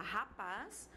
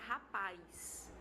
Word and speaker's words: rapaz: Então, por exemplo, na palavra rapaz, dependendo da região do Brasil ou do falante, há pessoas que vão falar rapaz, porém há pessoas que vão pronunciar rapaz, tá? Então, esse I é inserido aí e ele forma junto com A um AI, que é um ditongo, tá certo?